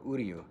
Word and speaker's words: Uryu: Because Uryu sounds like "Who are you?" So, I'd say, how do you pronounce it? And they go, Uryu.